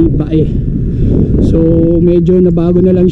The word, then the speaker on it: Bay: bayan na to ah yung spelling nga niya ay bay pero ang pronunciation dito sa Laguna ng bayan na to ay Bae so medyo Nabago na